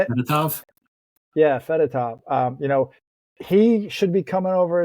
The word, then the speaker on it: Fedotov: Yeah, Fedotov.